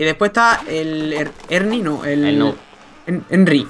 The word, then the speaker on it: Herny: ¿Verdad? Ernie. Ernie, pues ya está. Ernie. Pero nadie, uno lo dice en Herni, casi que yo también le digo Herni.